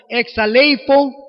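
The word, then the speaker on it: ἐξαλείφω: bien difícil de pronunciar algunas veces suena como exale ifo que significa quitar frotando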